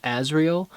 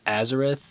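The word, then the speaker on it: Azrael: is um oh yes I mispronounced the um Angel of Death character's name um his name is asriel and you'll hear me in the video in the future referred to him as Azeroth or Azeroth something like that so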